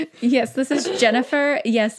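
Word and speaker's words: Jenwner: Yes, this is Jennifer. Yes, it's spelled J-E-N-W-N-E-R. The W is silent.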